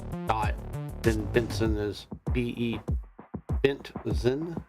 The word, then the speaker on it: Bentzen: Bentzen is officially how you say it. So B-E-N-T-Z-E-N. Benzian.